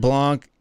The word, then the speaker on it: Blanc: Bouillon Blanc. You don't count the C. The C is silent, bro.